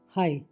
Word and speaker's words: high: HIGH हाई, बस हाई तक की आवाज़ आ रही है, उसके आगे आवाज़ नहीं आ रही, तो GH इज गॉन, इसका मतलब होता है ऊंचा।